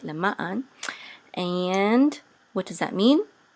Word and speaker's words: למען: So we want to put the accent on ma, so lema'an, okay? If we're just saying it, lema'an.